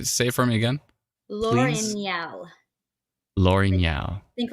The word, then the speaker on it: L'Orignal: And then on the other hand, L'Orignal. Not L'Orignal. Oh, I started calling it Lamousse, didn't I? That was my way around saying. But say it for me again. L'Orignal.